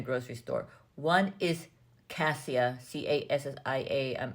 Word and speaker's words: cassia: One is cassia, Cassia, I think it's pronounced cassia cinnamon, and the other one is Ceylon cinnamon.